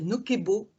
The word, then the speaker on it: Nocebo: que vous avez envoyé ben ça vous mettez bien la prononciation c'est nokebo alors quand je me suis